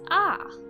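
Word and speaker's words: アー: literally means stretching note so the vowel sound of the character before it is stretched in conclusion this word is pronounced ah and is a common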